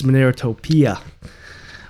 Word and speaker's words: Monerotopia: And yes, it's Monerotopia. Or Monerotopia if you want to not have the correct pronunciation. I could dumb it down for you guys. That's what I'll do. I'm going to dumb it down. Monerotopia. Like an uncultured swine, you know.